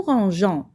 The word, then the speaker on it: rangeons: Mais on doit ajouter un E muet à la première personne du pluriel nous pour garder le son J. Nous rangeons.